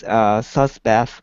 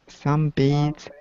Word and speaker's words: sunbathe: But Poipu Beach is most famous for the endangered Hawaiian monk seals that sometimes sunbath on the shore. Okay, good. Two pronunciation issues. Mm-hmm. Sunbathe.